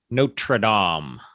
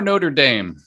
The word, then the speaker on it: Notre Dame: think the restoration of notre dame do you say notre dame or notre dame well if i'm trying to sound fancy i say notre dame that's like the correct